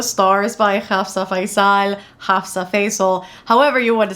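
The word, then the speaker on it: Faizal: by Hafsa Faal, Hafsa Fasil, however you want to say it. My tongue likes to say fal just because it sounds pretty. However, I know it's technically in English pronounced as fasil.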